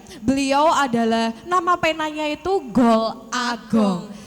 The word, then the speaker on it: Gol A Gong: Beliau adalah nama penanya itu Gol Agong. Dibacanya Golagong. Golong. Golong. Disambung aja. Oh, disambung. Golong.